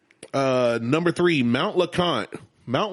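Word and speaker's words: LeConte: Uh number three, Mount Lacant. Mount Lacant is a mountain that has I hiked it in 2012 when I was skinny.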